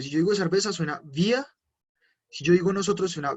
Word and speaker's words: wir: Wir, wir, wir. Así se dice, wir. Voy a repetirlo nuevamente, wir, wir. Suena muy parecido a la palabra cerveza, pero tiene una pequeña diferencia en el sonido.